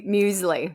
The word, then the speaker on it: muesli: Mu musli.